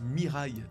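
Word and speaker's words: 未来: le fruit du futur le futur en japonais se prononce miraai donc dès à présent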